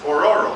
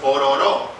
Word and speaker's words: Ororo: Okay, Ororo is an African deity, but it's not pronounced Ororo. It's pronounced Ororo. Ororo.